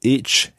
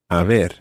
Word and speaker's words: haber: You use a different verb, and that different verb in Spanish is haber, and that's spelled Haber. Haber.